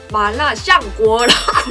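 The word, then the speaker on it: 麻辣香锅: 마라샹궈 중국어로 마라샹궈라고 읽어요? 마라샹궈라고 읽습니다.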